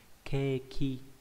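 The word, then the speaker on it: 景気: Chữ này không có âm cương thường dụng, âm ôn là kê, ví dụ trong từ keki không phải là bánh ngọt đâu nha. Keki là chữ cảnh với chữ khí, có nghĩa là tình hình kinh tế.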